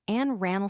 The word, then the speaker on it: Anne Arundel: Anne Arundel slash, the name of a county in Maryland, is usually pronounced Anne Rannell slash by its people.